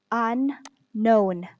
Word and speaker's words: unknown: we have unknown unknown this one letter k here this one this is silent letter meaning we are not going to read letter k so we're just going to read on and then known unknown okay non here we